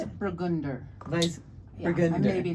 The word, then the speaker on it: Weissburgunder: Weissburgunder. Weiss. Yeah, I'm Burgunder. maybe not pronouncing it totally right, but probably close.